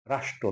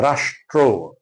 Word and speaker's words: রাষ্ট্র: রাষ্ট্র, রাষ্ট্র না রাষ্ট্র, রাষ্ট্র।